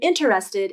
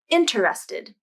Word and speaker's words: interested: occur with this word sometimes when the letters n and t are next to each other and the t begins a weak syllable like in interested native speakers might drop the t sound completely and say interested interested the first t is gone interested but what happened